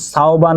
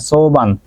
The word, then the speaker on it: সৌবান: Siddique clear সবাবান স্যার আমার নাম সাওবান না সৌবান ঠিক আছে সৌবান বিষয়